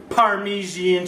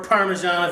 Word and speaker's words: Parmesan: a little bit of Parmesan cheese, or Parmesan if you want to happen to say it correctly.